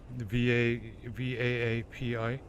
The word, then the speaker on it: VAAPI: now in Kden Live using, how do you pronounce it? VAPI? VAAPI.